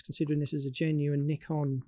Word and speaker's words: Nikon: This is a Nikon, because I shoot Nikon, or Nikon as the Americans say.